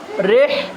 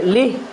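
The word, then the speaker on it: رحلة: রিহ রেহ রিহ এখানে কেউ কেউ পড়ে কি লিহ লাম উচ্চারণ করে লাম উচ্চারণ হবে না কি হবে র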